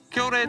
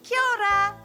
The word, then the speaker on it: kia ora: Anyway, Tui said, kia ora, and this is how you say kia ora back.